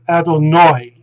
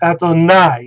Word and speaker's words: Adonai: the diphthong like so the ashkenazim pronounce it adonoi but the saphadum because they do not distinguish between the kamats and the patak and they pronounce either one as ah they uh they uh they will pronounce this ato nai and not ato and